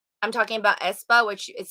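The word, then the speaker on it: aespa: level like i felt like i'm talking about espa which is spelled a-e-s-p-a that girl group with the four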